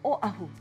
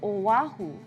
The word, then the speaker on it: Oʻahu: and the island is Oahu don't forget that okina there's no W there so it doesn't sound like Oahu it's in the back of your throat after Oahu we go